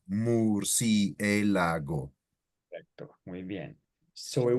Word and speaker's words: murciélago: So see what's happening, that you're using the U like in the English way. So Marciélago. Right. Murciélago.